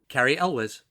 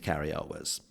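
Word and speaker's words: Cary Elwes: introduce that actor how' you say his name Carrie Elis that's how you pronounce it no it's pronounced the always delightful or always magnificent Car El was oh okay I thought you were going to say it's illis or something no no no like you say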